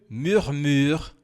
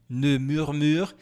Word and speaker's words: murmure: Personne ne murmure à mon personne murmure, ning murmura eu te amo no meu ouvorei. Aqui ó, faça atenção porque tem dois biquinhos.